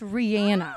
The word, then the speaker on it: Rihanna: now we know who you really are if Rihanna was to sing mix 1051 what would it sound like if Rihanna yeah or her name is her name is pronounced Rihanna oh it is I didn't know that how